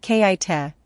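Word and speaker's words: K'iche': have shaped present-day cultures kit pronounced kaita previous Spanish spelling quiche are indigenous peoples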